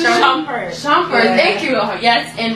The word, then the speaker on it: Shumpert: It's about her in a relationship with her husband, who is a known basketball player named Iman, how do you pronounce it? Shumpert.